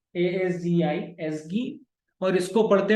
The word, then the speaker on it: ASGI: ये url.py, बाकी files इसगी, इसको बोलते हैं एसगी, ASGI एसगी, और इसको पढ़ते हैं WSGI विस्गी।